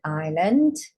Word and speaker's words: island: of white so it's the name of an island and then this one it looks like Island it's pronounced Island is of course is an island